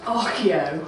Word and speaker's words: ARCIO: inquiry in organization and it's definitely pronounced archeo we have not asked